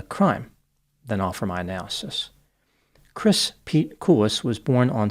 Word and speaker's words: Christ: name in the media it is spelled CHR i s t but the t is silent so he pronounced his